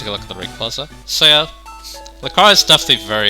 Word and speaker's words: Rayquaza: there's like 2 pronunciations. Rayquaza's the correct one, but Rayquaza sounds less weird, so personal preference basically.